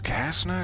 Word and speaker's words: Kasner: It's C-A-S-N-E-R, Kasner. Though I do like to pronounce it with a bit of the Z rather than the Kasner. Kasner. Just seems to roll off the tongue.